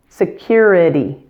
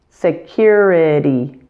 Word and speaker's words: security: It's a flap T, so it sounds like an English D sound, since it occurs between vowels in this word. Security, itty, security.